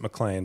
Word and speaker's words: McLean: John McLean from Die Hard. Yes. So he pronounces it McLean.